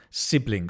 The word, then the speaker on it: sibling: Okay, sibling. So the phonetics is sibling, sibling. You're stressing the first thingamajig, syllable. Thingamajig.